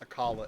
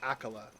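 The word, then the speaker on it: Akkala: So, Age of Calamity, I used to always pronounce it Akala, right? like the Akala region, the Akala Citadel, the Akala Tower. But Age of Calamity said and they they instructed that that was not to be pronounced Akala. It's Akala. And ever since then, I've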